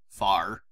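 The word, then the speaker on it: Fahr: Love how it's spelled, though. F-A-H-R. Far.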